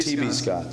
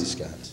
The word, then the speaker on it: J.B. Scott's: Am I saying that right? Yes, you're saying it right. Or is it T.B. Scott's? No, J.B. Scott's. J.B. Scott's.